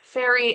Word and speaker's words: Ferry: Please welcome to the poetry saloncast Ferry. Fe R Y. It's how it's pronounced, isn't it?